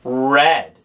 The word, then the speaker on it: read: mistake read turns into red it's spelled the same but it's pronounced just like the color red pause the video here